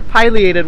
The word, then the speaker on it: pileated: large particular affiliated or pileated woodpecker depending on how you pronounce it later piloted depending on the region of the world the pile in relation